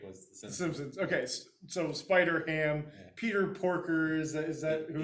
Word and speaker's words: Spider-Ham: Okay, so Spider-Ham, Peter Porker, is that who he doing? Because ham rhymes with man.